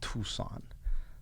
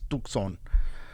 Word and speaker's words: Tucson: And I said Tucson, but it's Tucson is how you pronounce it. It's not Tucson. The C is not silent. You know, it's a Latino place. It's Arizona. It's the Southwest. It's Tucson. But everybody calls it Tucson.